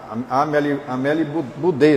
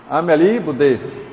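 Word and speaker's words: Amélie Boudet: que o casal Kardec, né, Allan Kardec, a Amel Budê, não é isso que pronuncia quem fala francês aí é Ameli Budê.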